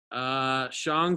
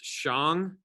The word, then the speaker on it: Shang: Shang, Zhou, Qin, Han, Sui, Tang, Song, Yuan, Ming, Qing, Mao, Zedong.